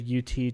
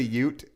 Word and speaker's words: Ute: by a mixture of Mormon settlers and native UT tribesmen. Of course, Mormons. What did I say? UT. Okay, it's the same thing. You ever heard of a Ute?